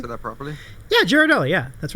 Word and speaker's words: Ghirardelli: The Ghirardelli. Did I pronounce that properly? Yeah, Ghirardelli.